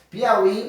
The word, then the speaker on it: Piauí: Então, por exemplo, a palavra Piauí, né? Piauí, você vê o quê? Separa o pi ao i.